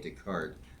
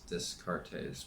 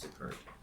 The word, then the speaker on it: Descartes: I know it looks like it's Descartes, but I'm pretty sure it's pronounced Descartes.